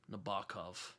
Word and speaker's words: Nabokov: like I read this book called My Dark Vanessa recently, um, which title is from Pale Fire from Vladimir Nabokov or Nabokov is how you pronounce.